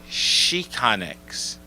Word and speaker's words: Xicanx: Xicanx. Same thing. Pronounced the same way? Oh, it's pronounced Chicanx. Because the X is a different sound in Spanish.